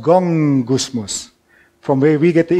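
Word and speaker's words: γογγυσμός: the english word go gusmus the greek word go gusmus and then actually me it's pronounced gong gusmus from where we get the english word gong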